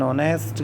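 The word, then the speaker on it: honest: जिन शब्दों में H silent होता है उनसे पहले ए एन का प्रयोग होता है। एग्जांपल्स देख लीजिएगा, N here, an ऑनेस्ट girls, an ऑनेस्ट girl, N अवर।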